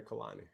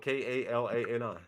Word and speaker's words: Kalani: girl's name her name Kalani that white girl name ain't no Kalani like the artist like the music artist singer yeah I guess it's spelled k-a-l-a-n-i oh Kalani how long